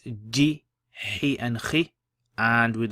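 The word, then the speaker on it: جِ: So how would you pronounce this? You would say kha, ji, kha.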